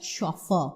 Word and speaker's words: chauffeur: Similarly, you have words like chauffeur, okay, the French word for driver. Chauffeur is a later borrowing, and these belong to